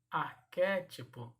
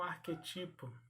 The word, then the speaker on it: arquétipo: Então são as pronúncias corretas dessas palavras. E para paroxítona, bávaro e não bavaro. Arquétipo e não arquetipo.